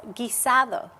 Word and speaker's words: guisado: trying to teach you how to say it's a guisado.